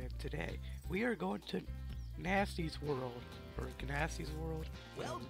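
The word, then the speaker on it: Gnasty: Some of the dragons say Ganassi with the G, but I think the G is silent, so it's whatever.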